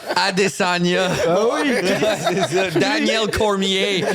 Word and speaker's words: Cormier: Daniel Cormier. Même si c'est un nom francophone, on le prononce en anglais, man.